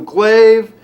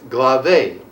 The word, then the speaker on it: glaive: pull out the magical glaive what glave i'm sorry to interrupt but it's pronounced glave i thought it was glaive too how did you know